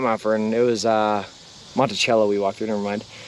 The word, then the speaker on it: Monticello: Although you guys don't pronounce it Monticello, you pronounce it Monticello, right?